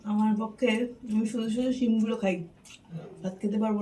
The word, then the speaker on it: শিম: চিম বলে না শিম বলে, আমি ঠিক জানি না। চিম না চিম? শিম। শিম।